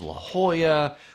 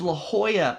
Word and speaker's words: La Jolla: as La Jolla but because San Diego was originally part of Mexico a lot of the names of places are Spanish names La Jolla means the